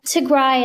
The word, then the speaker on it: Tigray: then I watched some particularly British speakers say Tigry. What which there's actually another kind of smaller ethnic group within northern Aritria called Tigra. And it's a completely different people. Tigry is how we pronounce it.